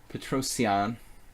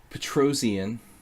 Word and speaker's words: Petrosian: Petrosian, if I want to try to pronounce it correctly, which I should try to do. People always get on my case when I start pronouncing Aronian like an American. Aronian. Petrosian.